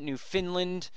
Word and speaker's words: Newfoundland: That's how you guys are telling me to pronounce it. Newfoundland.